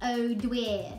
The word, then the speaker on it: O'Dwyer: O'Dwyer is Irish, is, pronounced O'Dwyer, meaning grandson of Dubhir.